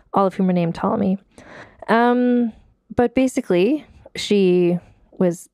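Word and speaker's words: Ptolemy: p at the beginning so it's like pterodactyl and it's hard for me to not say the p t tomm me the 14th so she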